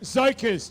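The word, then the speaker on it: Tzokos: It's pronounced Zokos. Just forget about the T.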